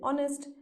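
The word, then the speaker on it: honest: ई एस टी ऑनेस्ट लेकिन एच क्या है एच तो साइलेंट है हम लोग नेस्ट तो नहीं बोलते हैं ना हम लोग क्या बोलते हैं ऑनेस्ट मतलब ओ हम लोग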